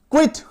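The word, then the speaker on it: quit: यू आ रहा है, तो यू का जो मेन साउंड है य, वो गॉन हो जाएगा, वो गायब हो जाएगा और हम लोग उसको क्या पढ़ेंगे, क्व पढ़ेंगे।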